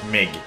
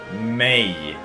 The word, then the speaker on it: mig: lesson of course that's not Mig that's may may yeah that means me